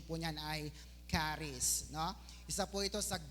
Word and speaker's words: Charis: tawag po diyan ay kis yan so ang pronunciation po niyan ay caries no isa po ito sa Greek word na